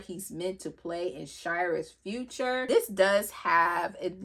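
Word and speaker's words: Seare: The oath of the brotherhood, the song of Shyra. Back in the day I was saying sier but that's honey that's that's not how you say it is.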